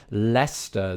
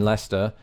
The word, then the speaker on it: Leicester: So perhaps there's something to that as to why that C in Leicester doesn't really get pronounced.